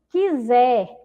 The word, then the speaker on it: quiser: Quiser, também, olha lá, quiser, é um outro exemplo, tá bom? Nós não ouvimos o som da vogal U. E observem aí a letra I juntinho nessa sílaba, tá bom?